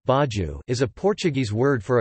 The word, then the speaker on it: bairro: A bairro Portuguese pronunciation, baju, is a Portuguese word for a quarter or a neighborhood or, sometimes, a district within a city or town.